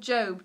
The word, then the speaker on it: Gob: And one of them was called Job, G-O-B, Job. That's how you pronounce it.